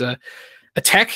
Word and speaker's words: ATT&CK: And then we have another thing from our friends at MITRE, which is ATT&CK, it's pronounced, even though it has an ampersand in the middle.